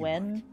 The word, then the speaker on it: Nguyen: As long as you're Nguyen, courteous to the but it's- neighbors, it's pronounced do what you when.